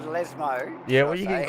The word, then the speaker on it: Lesmo: For my pronunciation, it's the Lesbo. That was Lesmo.